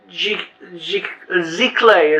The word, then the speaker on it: giclée: Giclée is how it's pronounced, but nobody knows how to pronounce it, so we go with Giclée or Gliclée.